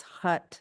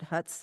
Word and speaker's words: Hutt: It's Hutt, not Huts, Hutt.